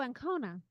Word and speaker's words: Ancona: Oh, Ancona, like the city.